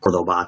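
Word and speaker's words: Córdoba: a um there was a city called uh cordoba technically um is how it's pronounced and uh we went there on a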